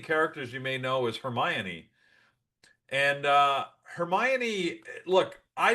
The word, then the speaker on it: Hermione: So I read them four books and called her Hermione because that's how it phonetically was spelled to me. So I just I would I for four books I was saying Hermione. So they get into the movie and of course she's called Hermione.